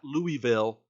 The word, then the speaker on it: Louisville: the uh davis arena in louisville that is pronounced louisville not louisville seriously it's louisville okay no that is how